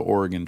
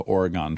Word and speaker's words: Oregon: Oh, not the Oregon Trail. The Oregon Trail. Oh, that's weird. Yeah. Yeah. It wasn't until my family moved to Oregon that I was forced to learn to say it correctly.